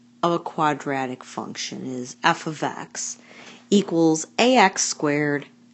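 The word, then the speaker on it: f(x): the standard form of a quadratic function is f ofx equal a x^2 + BX + C where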